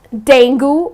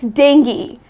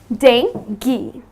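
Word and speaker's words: dengue: is Danny the mosquito-borne disease yes it's not dangle or it's not dang you many people pronounce it in this manner but that is incorrect the correct pronunciation is dengi so it's dinky another one that I have for you is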